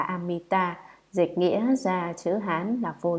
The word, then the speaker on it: Amita: Chữ A-di-đà là tiếng Phạn ở Ấn Độ, nguyên âm đọc là Amita, dịch nghĩa ra chữ